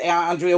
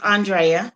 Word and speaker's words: Andrea: these people i told you i rode alone andrea what would you like to add to that because after that we're gonna talk about uh the bank go ahead andrea what would you like to add today because